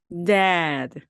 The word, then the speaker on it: dad: 만약에 여러분이 A 소리를 정확하게 내지 않으시고 그냥 데드 데드 하면 돌아가신, 네, 죽은 이런 발음이 되거든요. 그래서 이 발음을 강하게 해 주셔야 됩니다.